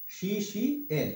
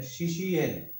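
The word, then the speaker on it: শিষ্যেণ: শিশের, এটা হচ্ছে দন্তান্ন, শি শি এন, এটা হচ্ছে সংস্কৃত উচ্চারণ। এখানে শিষ্যেন, শিষ্যেন মানে শিশি এন, সংস্কৃত উচ্চারণ হবে শিশি এন।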